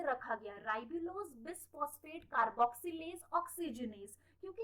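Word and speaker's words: bisphosphate: तो RUBP जो है राइबुलोज बिसफॉस्फेट, तो और सॉरी वो मैंने प्रीवियस वीडियो में राइबुलोज बिसफॉस्फेट की जगह मैंने राइबुलोज बाइफॉस्फेट 2 बार वहां प्रोनाउंस किया है। इट्स नॉट बाइफॉस्फेट, इट्स बिसफॉस्फेट।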